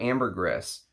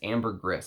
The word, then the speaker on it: ambergris: that it is ambergris it's not ambergris you're supposed to actually say the S at the end so that's why I say it like that some people come in and they say oh you're saying it wrong but I used to say ambergris and then the guy who did who's an ambergris Hunter said no actually it actually is ambergris um so according to